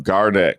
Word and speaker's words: Gardeck: Did I pronounce it right? Yep, Gardeck.